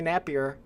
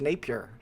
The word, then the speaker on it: Napier: the whole entire time they always call me nappier but no it's Napier Napier that's how you pronounce Napier n-a-p-i-r Napier it's my